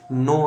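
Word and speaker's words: know: के बारे में जाने तो के के बाद एन जो है अगर आता है तो हमेशा क्या होता है साइलेंट होता है जैसे के के बाद यहां पे देख सकते हैं नो आया है के के बाद यहां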